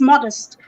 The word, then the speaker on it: modest: So I would say modest, and I'll hold myself or call myself back to what I know now. Come on, it's modest.